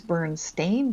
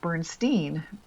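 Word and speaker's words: Berenstain: know, suddenly now it's these Burn Stain bears when they remember that you'd pronounce it Bernstein, which was e i n previously.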